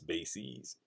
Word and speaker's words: bases: the plural of basis it's bases it rhymes with macy's not uh faces all right now the